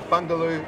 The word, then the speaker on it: Bungoolee: Okay, so you're from Bungoolee Tours? It's pronounced as Bungoolee.